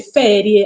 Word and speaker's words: feriae: Coeli no E quindi feriae si legge ferie anche se si scrive Feri a e però in latino si legge ferie quindi i giorni di